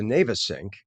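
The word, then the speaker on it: Navesink: Family fireworks on the now we can pronounce this two ways. I believe the formal way is the Navasync, but I think a lot of people call it the Navasync.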